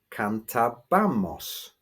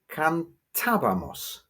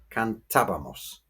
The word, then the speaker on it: cantábamos: Well, without an accent on it, we would have to say cantabamos, because we would have to stress the penultimate syllable. But the word is actually pronounced cantabamos, and so we need